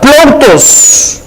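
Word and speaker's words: πλοῦτος: siendo la riqueza es la palabra 4149 que se pronuncia plos que su significado en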